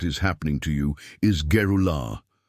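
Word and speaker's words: גאולה: The Hebrew word that defines exactly what is happening to you is Geulah. Pronounce it with me in a low voice wherever you are. Geulah.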